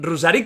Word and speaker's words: Ruzzarin: Está perfecto, como lo dijiste la primera vez, Rusarín es un apido italiano, pero sí, bien pronunciado. Ahí la doble Z puede ser engañosa, pero no ha sido